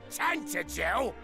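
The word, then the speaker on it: Tantegel: Well, they only keep it in the dining ROOM OF THE CASTLE HERE IN TANTIGEL. TANTIGEL. That's how you pronounce this t this town.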